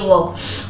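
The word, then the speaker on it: walk: ठीक है taking a वक वक में भी साइलेंट है ठीक है के के पहले अगर एल आया तो वो साइलेंट होता है उसको पढ़ते हैं व इन मतलब में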